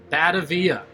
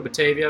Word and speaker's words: Batavia: your 10 second hint still called this bad avia if you want to pronounce it wrong batavia if you want to pronounce it right three two one hold